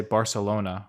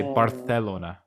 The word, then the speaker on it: Barcelona: but they would say barcelona barcelona like so it kind of sounds like you have a list but it's just because the c is pronounced th sometimes yeah so like like